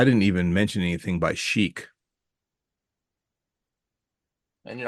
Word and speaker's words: Chic: C hi i c it was spelled chick which confused the heck out of me you know once again as a niney old it's like Mom that says chick it's pronounced Chic baby it's but but it says chick yo whoa whoa whoa